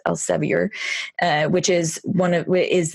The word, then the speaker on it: Elsevier: think earlier this year broke with Elsa VA which I believe that Americans pronounce Elsevier which is one it